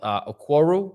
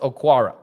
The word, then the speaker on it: Okwara: They've got man, I forget how it's pronounced and how it's spelled. Okworu, I think. One sec. Let's see. Let's open the Lions lineup here on PFF. Okwara. I think it's pronounced Okwara.